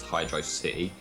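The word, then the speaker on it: Hydrocity: Yeah, cuz for me like the most recent official representation of it is like Generations in the song list which says it as Hydro City. So I guess like technically that's the right one, but it's spelled in this game as hydroity and hydroity sounds cooler. So I tend to go with that.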